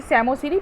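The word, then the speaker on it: psammosere: এক কথায় আমরা বলছি স্যামোসিরি পি টা এখানে কিন্তু সাইলেন্ট তাছাড়া এখানে গল্প লেখা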